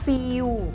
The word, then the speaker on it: feel: ยาว ไป นิด นึง ไม่ ใช่ ว่า feel หรือ ว่า feel กลาย เป็น ว แหวน ไป ไม่ ใช่ นะ คะ เพราะ ว่า อักษร ตัว สุด ท้าย ของ คำ นี้ feel คือ ตัว L เพราะ ฉะนั้น เรา จะ ต้อง ออก เสียง ว่า feel นะ คะ ก็ ยก ลิ้น